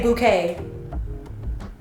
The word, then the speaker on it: bouquet: How do I say bouquet? Which language? English. Bouquet. Bouquet. Buy your bouquet after your dress. Bouquet. Okay. So, it's like bow and then K.